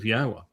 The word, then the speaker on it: Yahowah: Torah tells you how to pronounce the Wah as the O. That's where the O sound comes in Torah. And the Ah sound at the end of Torah is the same Ah sound as the end of Yahowah.